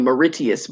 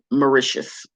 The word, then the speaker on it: Mauritius: in a previous video i was calling it miritius but i've been doing a little bit more research and i realized that it's pronounced mauritius mauritius is this little bitty island off in